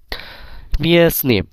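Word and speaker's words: местный: এই তে এর উচ্চারণ কিন্তু হচ্ছে না। কেন হচ্ছে না? মিসনি।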